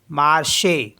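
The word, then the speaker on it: marché: है है ना तो उसको भी पढ़ेंगे हम मार्श मार्श मार्स मीस होता है मार्केट नेक्स्ट है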